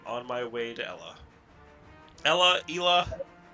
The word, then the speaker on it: Ela: Ela. Do we know how it's officially pronounced? I've heard it Ela. My personal Midwestern opinion, it's Ella.